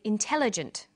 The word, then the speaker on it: intelligent: come across longer words you have to learn which syllable to stress for example we say intelligent increasing and markedly notice that when you stress one syllable the vowels in the other syllables are shortened sometimes these short syllables